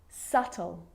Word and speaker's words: subtle: subtle debt and doubt so see in all of those examples my lips aren't closing and coming together to form the b sound i'm just pronouncing the t subtle debt and doubt now the letter c